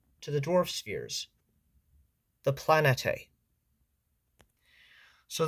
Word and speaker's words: planetae: the dwarf spheres the planete. So this term can be spelled or pronounced very differently from my understanding like planete or planeti. That's at least how I pronounce it.